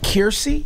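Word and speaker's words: Kiersey: Is it Kirsty?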